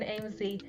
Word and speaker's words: Aimsey: we gotta start with I finally know how to AMZ. say that, because I was a bit confused on how you pronounce that. And then I watched Rumby's stream, and he's just saying AMZ like 20 times, and I'm like, okay, I know how to pronounce that now.